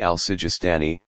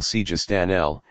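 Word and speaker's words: Sejestani: one hand abio yaku Obi al-sujistani who following the Persian pronunciation we will call sija stanell and on the other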